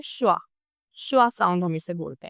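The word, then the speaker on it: schwa: और यह हीरो है इंग्लिश प्रोनाउंसिएशन का और इसका नाम है श्वा।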